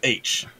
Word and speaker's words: Aech: Obviously, Wade, his best friend is a character H, spelled AECH, but it's pronounced H. It's like just a letter.